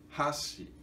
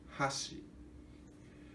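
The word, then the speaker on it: 箸: Mas se for falado, pronunciado, ponte e hashi, grave, agudo, hashi. E pauzinho é hashi. E agudo, grave, hashi. E ponte, hashi. E pauzinho, hashi.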